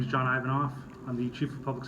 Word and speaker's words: Ivanov: Authority ladies and gentlemen my name is John ivanof I'm the chief of Public Safety for the Tucson Airport Authority name is spelled IVM off this afternoon at approximately 12:40